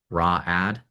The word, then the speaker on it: Raad: Would you pronounce this Ray Aad or Rad? Raad. Um, h how's I'm just opening the article. R A D. Raad.